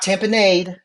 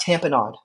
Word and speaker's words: tamponade: to called cardiac tanod not tamponade it's not lemonade we're selling here it's cardiac tanod okay that is the only way this is pronounced cardiac tanod and so um what